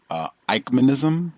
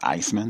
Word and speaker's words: Eichmann-ism: Just for clarification, it's Eichmann-ism, like I-K-E, Mike and Ike. That's the way it's pronounced, not Iceman. So he's saying Eichmann-ism, E-I-C-H-M-A-N-N-I-S-M, Eichmann-ism, not ice.